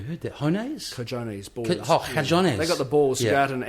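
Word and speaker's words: cojones: Hones. I've never heard that. Hones? Cajones, balls. Cajones.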